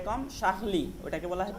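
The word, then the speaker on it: Charlie: সে কম শাহলি, ওটাকে বলা হয় চার্লি, ওকে? ইংলিশে চার্লি, চার্লি। আর ফ্রেঞ্চ উচ্চারণ হচ্ছে শাহলি, শাকলি।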